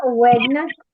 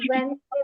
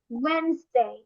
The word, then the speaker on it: Wednesday: হ্যাঁ, ওয়েডনেসডে বলে নাকি ওয়েনসডে বলে, কোনটা বলে বলো তো? কোনটা বলে? Wednesday. ওয়েডনেসডে বলে না, ওয়েনসডে বলে। কি বলে? ওয়েনসডে। ওয়েনসডে, ডি এর উচ্চারণটা হবে না, বলতে হবে ওয়েনসডে।